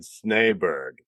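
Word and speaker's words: Snejbjerg: Peter Tomasi said Snaberg, so I go with that.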